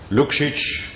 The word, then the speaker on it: Lukšić: Lukšić, I pronounce it rightly?